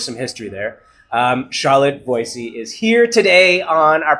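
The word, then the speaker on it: Voisey: because there's there's some history there um charlotte voicey is here today on our podcast stage come on in charlotte one of the most beautiful guests of the day oh charlotte was a yes indeed it's pronounced boise but crazy but i like to say thank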